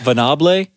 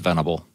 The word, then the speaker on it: Venable: from me boys Vinny bleh Vanna bleh that's how they say it all the times they try to make it really fancy it's just venable and it's not